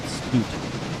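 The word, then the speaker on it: slut: or end is uh just called spoot, s l u t, which if pronounced a different way is a uh another uh fun word you use at parties.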